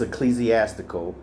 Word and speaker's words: ecclesiastical: I just didn't pronounce it correctly. It's ecclesiastical, and that's what I just was reading in regards to of relating to a church, especially an organized institution.